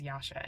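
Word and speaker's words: Jascha: with the fact that my name is Yasha and it's spelled j a c h which is actually um it's Lithuanian I was named after a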